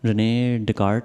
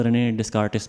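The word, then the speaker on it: René Descartes: तो ये हमारा एक स्टार है, रेने डेकार्ट। लास्ट वीडियो में मैं प्रोनाउंसिएशन पे ज़्यादा गौर नहीं कर रहा था,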